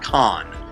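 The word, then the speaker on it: Khan: One thing is, I'm working on a movie called The Perfect Con, and Con is spelled K-H-A-N.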